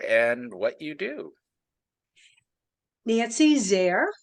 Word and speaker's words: Zare: what you do Nancy's there rhymes with care starts with a z for zestful and uh I am